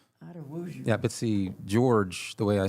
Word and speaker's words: Jorge: But, see, George, the way I spell it, J O R G E, is Jorge in Spanish.